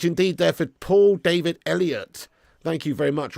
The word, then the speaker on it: Elliott: Very much indeed there for Paul David Elliott. Thank you very much. Or the way it's spelled, I think it's more like Eloit. Eloir. You know what I mean? I don't know. No, it's Elliot, mate.